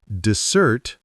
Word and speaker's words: dessert: Dessert versus desert. Oh, that's confusing. Yes. Listen carefully. Dessert with the stress on the second syllable means something sweet like cake or ice cream.